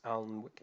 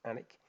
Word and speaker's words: Alnwick: So location, so I've got Alnwick there, even though it looks like it's Alnwick, it's pronounced Alnwick.